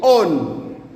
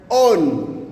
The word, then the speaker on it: on: Na namba tisa utamkwa dokuz. Na namba 10 ni on. On.